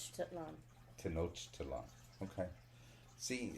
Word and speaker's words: Tenochtitlan: Tenochtitlan Tenochtitlan, okay.